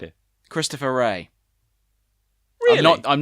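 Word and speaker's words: Wray: mm-hmm because he's been testifying not it Christopher ray no I'm not joking well my name it's spelt it's felt the W o WR a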